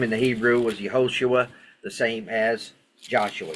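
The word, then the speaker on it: יהושע: transliteration but his name in the Hebrew was yahoshua the same as Joshua yahoshua so question so far all right Joshua chapter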